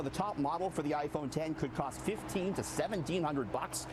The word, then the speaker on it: iPhone X: the way, I learned it's not the iPhone X. You can't call it the iPhone X. It's iPhone 10.